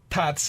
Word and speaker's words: Tatse: Okay, so pronounce the name of your restaurant for me. Tatse restaurant.